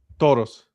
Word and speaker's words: Toros: Toros.